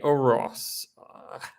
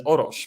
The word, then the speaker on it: Orosz: It's called The Pragmatic Engineer by, another interesting name, Gergely Oros. I mean, in Polish, you would read it as Orosz, but I'm sure that's not the way it's usually pronounced.